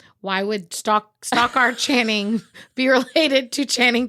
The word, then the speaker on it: Stockard: I always want to say Stockyard, and it's definitely not Stockyard. Stockard. Not related to Channing Tatum. Why would that be? Channing is a first name. Why would Stockard Channing be related to Channing Tatum, Robin?